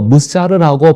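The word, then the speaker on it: מוסר: 잠언은 지혜라는 단어를 언급한 후 히브리어로 무사르라고 발음되는 훈계를 연이어 설명합니다.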